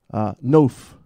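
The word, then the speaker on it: נוף: Noph is how you say it.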